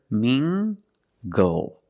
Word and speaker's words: mingle: at this word mingle using the nasal sound and the hard G together mingle mingle mingle is a